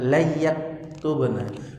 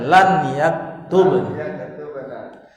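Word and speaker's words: لن يكتبن: Bacanya bukan layaktubna. Nun sukun ketemu ya, jadi itu gong. Bukan, ini enggak ada tajwid ini di sini. Antum baca saja lan yaktubna.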